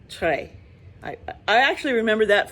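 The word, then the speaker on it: Très: it trey satik because in french t-r-e-s is tray i i actually remember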